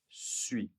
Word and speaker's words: suis: je suis je suis Est-ce que je prononce le dernier S ? Je suis Et bien non, pas du tout. cette dernière lettre. Ce S est donc silencieux.